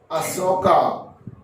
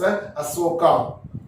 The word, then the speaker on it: Asoka: thing to you, that just the pronunciation of Ashoka, many times I used Ashoka, because in South now we are using H also. That is why I used to pronounce Ashoka, right? But real pronunciation is Asoka, King Asoka, right? So you also use this pronunciation Asoka only, not Ashoka.